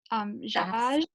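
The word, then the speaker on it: Szasz: One other question: to what extent are you engaged with the anti-psychiatric work of the 1960s, including, I'm guessing that's pronounced Zaj, Yeah.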